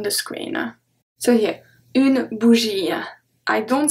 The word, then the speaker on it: bougie: So if the word ends with IE, we only pronounce I. Let's see. Une bougie. Une bougie.